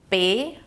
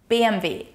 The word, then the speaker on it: BMW: In order to pronounce it correctly, you need to pronounce each letter in German individually. So the correct pronunciation is BMW. BMW.